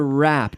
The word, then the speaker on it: wrap: glad I know you so to wrap WRA P wrap we have the silent W okay all right let's